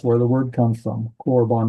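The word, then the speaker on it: קָרְבָּן: Corbon. Notice that that initial Pak that is a closed unacented syllable. And so it's that's an o vow orb or bon.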